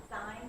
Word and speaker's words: sign: Yeah, we have sign, like S-I-G-N. What letter is silent? And where's some words where it comes out? Can you hold them up or tell us? Signal. Signature. What's yours? Signal. Good. So the G came out of hiding.